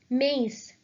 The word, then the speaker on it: maïs: Similarly, the second one will be pronounced as maïs, corn.